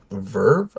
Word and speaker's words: VRV: However, I did use Verve, I believe it's pronounced, VRV, which is similar in concept.